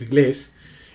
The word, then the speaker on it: inglés: O sea, tiene el acento en la última sílaba, que es inglés, en este caso.